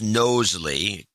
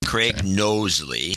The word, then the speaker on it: Knowsley: Anyway, if you could help a guy out, it's pronounced Knowsley, Craig Knowsley.